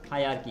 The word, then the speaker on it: hierarchy: bad because this time it's been really bad pronunciation hierarchy yeah hierarchy hierarchy hierarch wow hierarchy